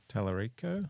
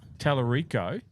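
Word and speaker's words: Talarico: James Telerico. Telerico.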